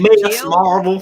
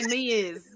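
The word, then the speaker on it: Ms. Marvel: Gosh, I say it like a country person. Miss Marvel. That's what we say. They say Ms. It's like Ms. That's just like a Kentucky thing.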